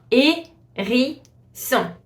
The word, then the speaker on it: hérisson: A hedgehog in French is gonna be un hérisson. Hérisson. So you see the H is completely silent. You just pronounce the A with the accent.